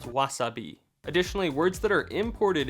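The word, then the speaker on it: わさび: length of time so words like Wasabi are actually pronounced Wasabi additionally words that are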